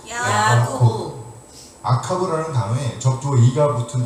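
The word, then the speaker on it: יעקב: 히브리어 발음대로 하면 야코브입니다. 해보세요. 야코브.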